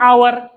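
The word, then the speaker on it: hour: vowel sound बासी पर एन आवर आवर आवर तो आवर पहला एच एस कसोनेंट लेकिन एस तो साइलेंट आवर शुभवे शुभला एन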